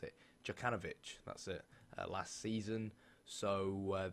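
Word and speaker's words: Jokanović: And obviously they brought in a new manager, Jovanovic, how do you pronounce it? Djokanovic, that's it, last season.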